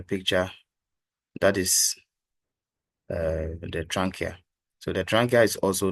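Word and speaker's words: trachea: have the trania please take note of the pronunciation so we have the what trania so the tranka is also known as the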